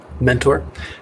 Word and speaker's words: Mentor: first name is that you pronounce it exactly as you would expect mentor and my last name